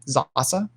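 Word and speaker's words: Sasse: sas photo um or just type in christian zahasa that's how you pronounce it uh but it's s-a-s-s-e um who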